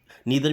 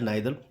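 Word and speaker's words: neither: नीदर भी बोलते हैं इसे, ईदर, नीदर या आइदर, नाइदर, दोनों तरीके से आप इन्हें प्रोनाउंस कर सकते हैं।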